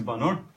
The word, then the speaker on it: Bannur: last name is Bannur.